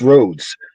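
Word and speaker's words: Rhodes: The roads scholar because a lot of people don't say it right. They just say roads. It's roads and it's the guy's last name.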